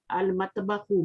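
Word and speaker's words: المطبخ: Al-matbakhu, mim is here. So lam is, we are pronouncing the lam, al-matbakhu.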